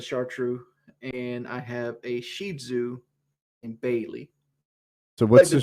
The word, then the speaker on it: Shih Tzu: You've seen some people call them Shih Tzus, but it's actually pronounced Shih Tzu.